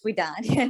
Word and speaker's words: Widad: Am I pronouncing your first name wrong incorrectly? I apologize. No problem. It's Widad.